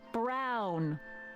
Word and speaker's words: Brown: Emmett Brown. Rhymes with clown, which I'm beginning to think you are.